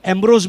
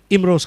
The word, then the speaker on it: इमरोज: और उनकी गति ऐसी है कि शुरुआत में लोगों को उनका नाम प्रोनाउंस करना जम नहीं रहा था इमरोज, तो लोगों ने उनको एम्ब्रोज भी बना दिया था, लेकिन दरअसल में वो है इमरोज खान।